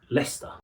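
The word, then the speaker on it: Leicester: You end up with leester but it's leester lei cester. Shiers are not pronounced shia they're pronounced sh.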